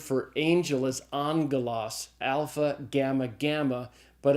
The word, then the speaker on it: alpha: unit the first Greek letter is the letter alpha it's pronounced like in the a sound in the English father so alpha is as in father second letter is the